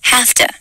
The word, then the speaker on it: have to: or pronunciations have to sounds like hafta in spoken english